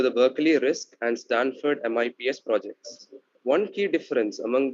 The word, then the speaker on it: MIPS: hennessey was doing at stanford the mips is pronounced mips for his mips project uh he was a